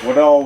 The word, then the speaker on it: Widahl: Widahl? Widahl Woodcraft.